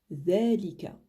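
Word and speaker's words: ذَلِكَ: Ensuite on a le mot dhalika qui veut dire ainsi. Et ici c'est bien le dhal. Donc j'insiste bien sur la prononciation dhal en sortant un petit peu la langue entre les dents de devant.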